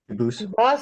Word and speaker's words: Dubus: They do pronounce it Dubas, but you said you pronounce it Dubus, as the original. Dubus, as the original French.